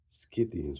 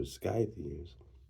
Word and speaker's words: Scythians: Sakha who he says are Scythians pronounced Scythians or Skythians which we connect before to the Ossetes, the Ossetia, the Alans.